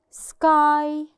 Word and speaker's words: sky: Okay, the first example, sky. Sky. In this example الواي ما نطقناش الساوند بتاعها.